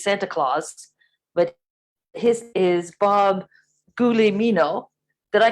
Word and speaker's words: Bob Guglielmino: try to really get this down it's it's pronounced bob the elmino but i have been called everything in the